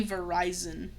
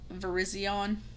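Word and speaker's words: Virizion: I know I say Verizon, but I know it's pronounced ver Verizion, but I call it Verizon.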